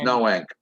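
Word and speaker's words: Noank: up in groton connecticut am i pronouncing that right groton yeah but it's no ink no ink and so um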